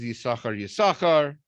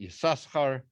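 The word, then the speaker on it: Yissachar: Why is Yisachar, or is it Yisachar? As it's the first time you say it, you're supposed to pronounce it like that in this week's parsha.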